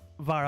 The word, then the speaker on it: Vera: Technically, it was supposed to pronounce Vera, but Vara honestly makes more sense.